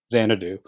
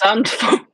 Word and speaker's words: Zandvoort: before, and they haven't seen it at, Naomi, pronounce the name? Xanadu. Oh my God! Tell him off, Naomi. Tell him off. It's Zandvoort. Zandvoort.